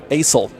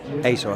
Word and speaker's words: Assel: Asel. How you spell it? How you spell it? ASSEL. Ace, like the ace of spades.